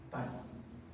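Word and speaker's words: πᾶς: bien bonito porque saben cómo se dice todo en griego Paz Paz con ese Eh así como le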